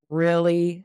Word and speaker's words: really: It sounds like a light I sound, a short I sound.